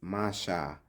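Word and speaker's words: משה: The name Moses, pronounced in ancient Hebrew, is Masha, which means drawn from water.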